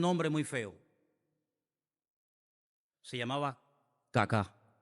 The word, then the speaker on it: Kaká: Se llamaba Kaká. Menos mal que tenía el acento ahí. Si llega a tener el acento en otro lado, peor todavía.